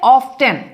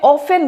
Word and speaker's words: often: क्या इसको कोई कोई बोलते हैं ऑफेन कहते हैं, कोई कहते हैं ऑफ्टेन। कौन सा सही होता है? इसका जो प्रोनाउंसिएशन है दोनों ही सही होती है। ऑफेन नहीं, ऑफ्टेन भी है, ऑफेन भी है, क्योंकि दोनों प्रोनाउंसिएशंस डिक्शनरी में होती है।